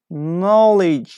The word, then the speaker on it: knowledge: in the countryside general knowledge yes yes - but I got your answer I guess your answer was number seven yes it's correct number seven is K knowledge knowledge yes okay number eight